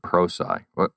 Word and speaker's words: Prosci: It actually comes from a contraction of the words professional and science. Okay. So professional and science pulled together gives you pro-sci, but we do get called Prosci, probably more than anything else, especially in Eastern Europe.